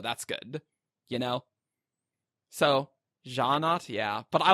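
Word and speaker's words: Sja-anat: I also, yes, while we were reading the beta, I was Syanat, but that was one of my questions for Brandon. I was like, how do you pronounce this? Because I want to know. That's a good question. And Brandon says Ja'anat.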